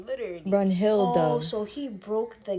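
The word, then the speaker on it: Brunhild: I'm like it's Brun Hill though. Like literally Brun Hill.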